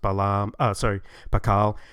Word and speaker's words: Pakal: We know that shield is pronounced Pakal, like we saw before, and jaguar is Balam.